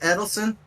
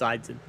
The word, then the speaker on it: Eitzen: Is it Edelson? No, it's Eitzen.